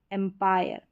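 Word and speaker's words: empire: आई आर ई है, तो आप याद रखें आई आर ई में पूरे का उच्चारण, आई का उच्चारण आई करके हो जाएगा और पूरे का उच्चारण आयर, आयर।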